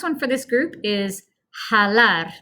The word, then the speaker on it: jalar: All right, last one for this group is jalar. The J sounds like a H. Jalar. So it means to pull, which will be our movement. Pronunciation, ha, lar. Ha, lar.